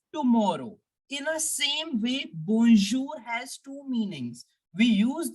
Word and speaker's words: bonjour: boom people remember that we will not pronounce the N completely I am not me not pronouncing it as bon no I am just making a partial sound of n why so I'll tell